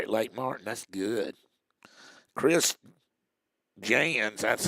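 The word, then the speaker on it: Chris Jans: 63 up there at Lake Martin that's good Chris Jan that's how you pronounced his name was born on April the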